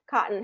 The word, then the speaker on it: cotton: vow and the N where the vow gets dropped where the vowels getting dropped here and that t becomes more of a glottal stop so say this for me cot in coton perfect cotton how about button Buton